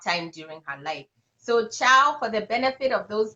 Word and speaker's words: Chao: to start with, but I would prefer to go by my African name, which is Chao, and it's spelled Chao.